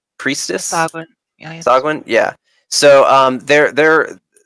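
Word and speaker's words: Sahuagin: It's a Sahagwin priestess. Sagwin.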